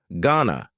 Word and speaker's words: going to: Going to is generally pronounced with a schwa. Gonna you going to ask him out or not?